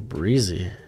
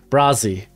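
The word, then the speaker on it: Bresee: of mr uh brian breezy her breeze it's breezy right okay let me look how to pronounce this i got the pronunciation right now brazzy okay brian brazzy all right uh number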